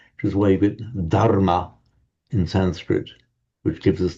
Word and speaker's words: dharma: entirely different story that in Sanskrit it is dharma with a d h a r m a and the reason it's